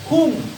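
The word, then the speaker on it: hūṃ: hanya membacakan juga atasnya ada titik dibacanya ng bukannya Hum Hung tulisannya m tapi ada titik Jadi dibacanya ada ng sandalnya setelah Om andipat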